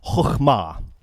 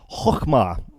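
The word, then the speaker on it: חכמה: Proverbs, is this word, which is close to impossible to pronounce for people in from my background at least, which I think is something like chokhmah. Yeah, good luck with that.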